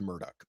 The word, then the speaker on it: Murdaugh: Um I it is interest he pronounces his name Alec Murdoch which is apparently uh because of the kind of Scottish um uh uh history of that area Scottish immigrant im immigration